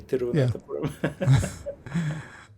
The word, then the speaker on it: Thiruvananthapuram: Thiruvananthapuram." That's amazing. I So didn't make much progress with that yeah, beyond Malayalam, pronunciation.